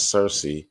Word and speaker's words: Circe: So Circe, it says right here, goddess Circe, sometimes pronounced Kirke, so C-I-R-K-E.